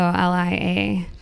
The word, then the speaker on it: Lia: Her nickname is Leah, pronounced like Leah, and it's the end of Cecelia, so Lia.